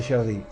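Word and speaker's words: Gerdy: pregunta que es el tubérculo de sherd con acento en la e tubérculo de sherd que va a insertar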